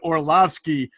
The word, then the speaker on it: Orlovsky: one of espn's top nfl analysts he's dan orlowski welcome to the show dan how you doing